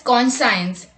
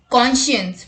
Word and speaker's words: conscience: Many people pronounce this word as conscience, but the correct pronunciation is conscience, meaning the part of